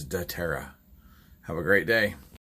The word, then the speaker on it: dōTERRA: myself da terra um it sounds like it may have came out duterte but no the proper pronunciation is da terra have a great day